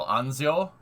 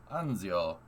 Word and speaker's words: Anzio: way that's insane dude the a in italian is pronounced like the a in lancia anz so anzio anzio this is why knowing